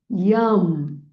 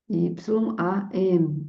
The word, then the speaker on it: yam: Então, inspira de novo, trazendo a intenção pro quarto chakra e na hora de expirar pronuncia o mantra do quarto do quarto chakra, que é o mantra yam. Y a m yam.